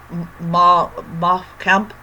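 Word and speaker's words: Mein Kampf: And she even gets a copy of Ma Kampf, that's how you pronounce it.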